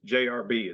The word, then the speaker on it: Jarabe: been I think it's JRB is how they pronounce it.